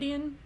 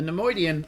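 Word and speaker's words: Neimoidian: Nemoidian? Nemoidian? I'm not looking at their names, so how do we spell that so that I don't keep fucking it up? Like Leonard Nimoy?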